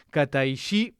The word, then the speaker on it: Kataishi: con y, corregime, por favor, si pronuncio bien tu apellido. Kataí, disculpa si lo estoy pronunciando mal, ahora te voy a dar para que me corrijas.